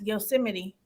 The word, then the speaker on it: Yosemite: Funny, but it's pronounced Yosemite.